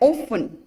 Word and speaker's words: often: Then often. So we are speaking often. We are not speaking often, right? So T is silent there.